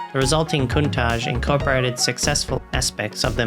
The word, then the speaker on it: Countach: The name originated from the word pronounced Countach, an exclamation of the astonishment in the Piedmontese language.